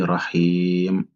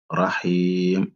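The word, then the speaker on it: رحيم: Par exemple, le ya ici, il faut prolonger au minimum 2 secondes. On dit Rahim, Rahim. On ne dit pas Rahim, mais il faut dire Rahim. Il faut au minimum 2 temps.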